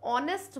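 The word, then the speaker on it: honest: है एक वावल और ऑनेस्ट बोल रहे हैं ओ का साउंड आ रहा है एच साइलेंट है और ओ लेटर भी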